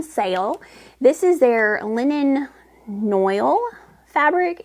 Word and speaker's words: noil: this is their linen noil fabric it's 75% viscous 25% linen I always want to pronounce it noal and I think it I think it's noil though I'm not I don't